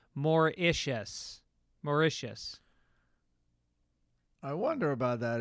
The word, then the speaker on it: Mauritius: Just wanted to say that Mauritius is pronounced Mauritius.